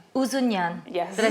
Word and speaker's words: Ouzonian: Ceza, pronounce your beautiful second name for me. Ouzonian. Ouzonian.